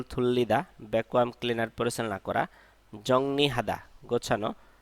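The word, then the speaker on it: 정리하다: ব্যাকুয়াম cleaner পরিচালনা করা জংনিহাদা গোছানো এখানে অনেকে ভুল উচ্চারণ করে জংরি হাদা বলে কিন্তু এটা উচ্চারণ হবে জংনি হাদা গোছানো জংনি হাদা গোছানো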